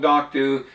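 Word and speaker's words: Knockdhu: Why is it called Nocdu? Uh people get no confused with Nandu which is a Dio distillery. Anch and you can see the the the spelling of it there. The C is silent.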